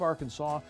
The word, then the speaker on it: Arkansas: by the historical society of the state of arkansas and the eclectic society of little rock which have agreed upon the correct pronunciation as derived from history and the early